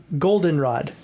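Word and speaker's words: Goldenrod: welcome to Golden Rod Golden Rod the ACT accent is on the o and I was like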